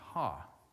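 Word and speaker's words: ὁ: It's an omicron, which is like our English O, with a breathing mark above it, and it's pronounced "ha," which is kind of funny.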